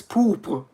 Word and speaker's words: pourpre: Pour is also what an American would mispronounce the French word for purple as, because it's pourpre. So he would say it's pour.